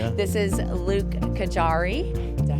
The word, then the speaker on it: Gajary: This is Luke Kajari. Did I say it correctly? You did. Yeah, I've heard it all, though. rhymes with safari in case you want to know.